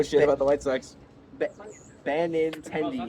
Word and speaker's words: Benintendi: Benintendi. Yeah, that's how you say his name.